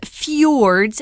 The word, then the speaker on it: fjord: Right, these Norwegian fjords, fjord is how that's pronounced.